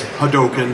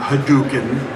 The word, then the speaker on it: Hadoken: said it's Ryu not where are you it's hadoken not hadouken I go okay well you guys are paying